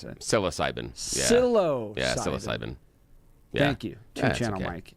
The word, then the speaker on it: psilocybin: I thought that's how you pronounce it. Psilocybin. Psilocybin. Yeah, psilocybin.